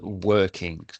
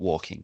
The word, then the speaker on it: working: It should be working, not walking. Working.